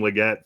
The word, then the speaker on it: Legette: And if Legette really is the number 2 behind Tet, then sure, Legette and Tet, man, it rhymes.